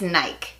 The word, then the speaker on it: Nike: tiene mucho sentido porque si siguiéramos nuestras propias reglas en el inglés la palabra rimar ya con mike pero no no es nike nike de hecho haití es